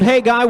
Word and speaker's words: Khegai: Arnold Khegai weighs in at 121.8 pounds. We're going to call that 121 3/4 pounds. So the K is silent, and his opponent, 17-0,